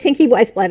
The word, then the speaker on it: Tinky Weisblat: I said, Tinky Weisblat, and he's like, Tinky Weisblat, Tinky Weisblat, Tinky Weisblat.